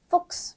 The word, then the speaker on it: Fuchs: 체하 S 세 가지 조합이 되어 있는데요. 그랬을 때 발음이 X 발음이 납니다. 그래서 써보자면 이런 발음으로도 쓸 수 있을 것 같아요. 그럼 단어 읽어볼까요? 네. Fuchs.